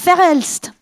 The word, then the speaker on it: Verhelst: Et pour en parler, je vous prie d'accueillir chaleureusement celle qui les a conçues et réalisées, l'artiste Verhelst.